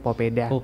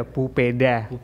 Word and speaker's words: papeda: Sengaja kami pakai nama Popeda karena pengucapan pelafalan ee papeda untuk masyarakat Maluku Utara sendiri memang kita sebutnya popeda. Ada dua versi ya. Iya. Jadi yang pertama ada popeda, yang kedua ada pupeda.